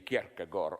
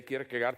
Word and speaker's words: Kierkegaard: I read in a biography of, how to pronounce it correctly, Kierkegaard. Okay, we in the corrupted West say Kierkegaard.